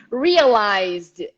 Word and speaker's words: realized: right but anyway so realized z sound realizes vibrations go straight to d ignore the e realize repeat and realized